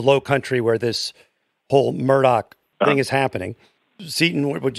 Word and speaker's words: Murdaugh: go to the low country where this whole murdoch thing is happening seton would you like to